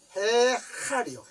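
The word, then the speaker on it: היכל: 이게요, 발음이 해할이요.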